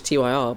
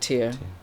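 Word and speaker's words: Tyr: You know, last year I always thought it was Ty R, but apparently you do pronounce it tier.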